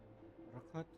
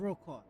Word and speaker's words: Rokat: Rocket? Rocket? I know. The Rokat, huh? Rock. They just pronounce it like robot, but Rokat.